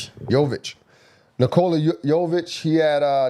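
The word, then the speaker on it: Jokić: But we have uh Nola Nola, how you pronounce his last name? Yovic. Yovic.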